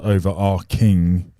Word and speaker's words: overarching: It is pronounced overarching. If you don't, it's ching or arching or arcing. Depends whether the H is silent.